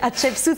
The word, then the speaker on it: Hatshepsut: Je vous aide à le prononcer. Hatshepsut, ça veut dire la première des premières, en fait, en hiéroglyphe, justement.